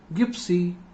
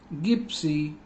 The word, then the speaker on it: gypsy: When it comes before I, Y, E, then time we have to pronounce it as J, not G.